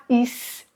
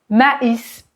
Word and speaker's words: maïs: U et en fait le tréma c'est un signal qui permet à votre cerveau de comprendre qu'il faut prononcer chaque lettre séparément par exemple ici s'il n'y a pas de tréma on va prononcer mais mais parce que a I se prononce et un e ouvert mais mais si je mets le tréma on va prononcer ma maïs maïs d'accord en fait c'est